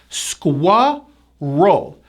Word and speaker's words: squirrel: Now, there's a strong hidden W sound in this word and also a very strong R. 2 syllables. Squirrel.